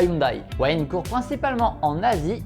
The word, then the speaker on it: Hyundai: Oui, on prononce Hyundai, pas Hyundai.